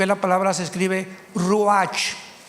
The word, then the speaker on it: ruach: Biblia la palabra espíritu que es la palabra se escribe ruach r u a ch H ruach qu es la palabra espíritu vemos